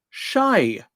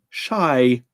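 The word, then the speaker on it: شاي: What does the Arabic word shy mean? Difficult to spell that, given that it's Arabic, but it's the letter for sh, the letter for air, like a long A, and the letter for E, shy.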